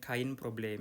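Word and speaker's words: kein Problem: Ini bacanya kain problem. Ingat ya, Ei dibacanya ya. Ei dibaca jangan lupa jadi kain problem.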